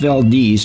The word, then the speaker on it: Valdez: It's spelt Valdez but pronounced Valdez to avoid association with the tragedy.